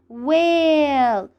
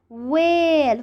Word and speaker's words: whale: you notice here that we pronounce the letter w but we don't pronounce the letter h we don't hear the